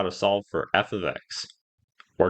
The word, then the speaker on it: f(x): example we have here F ofx that's how you say it with the X in parenthesis F ofx and we need to